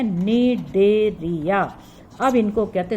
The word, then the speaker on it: Cnidaria: लेकिन अब आपको पता है इनका आधुनिक नाम क्या है, निडेरिया। अब इनको कहते हैं, सी साइलेंट है यहाँ पर, निडेरिया।